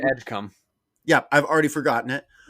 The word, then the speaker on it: Edgecombe: And if you say it right, Edgecombe.